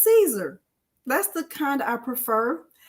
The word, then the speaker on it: Siser: The vinyl that I prefer is Siser. I used to pronounce it Siser when I first got started. And then someone said, Delonda, it's Caesar, like a Caesar salad.